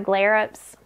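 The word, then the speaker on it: Glerups: smart wool socks and my glare UPS that's how you say it which I got at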